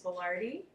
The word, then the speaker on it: boulardii: Other ones, let's see, Saccharomyces boulardii.